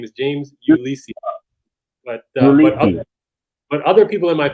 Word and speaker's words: Ulysse: so how do you pronounce the name i pronounce it lisi i say my name is james ulisi but other people in my family they'll say you lease or you list so there's multiple ways to pronounce just can